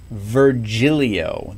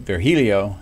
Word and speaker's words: Virgilio: in the United States, the way we would pronounce that name is Francis Virgilio. That would sound like a G instead of an H. But I think I've got it, Virgilio, and you can let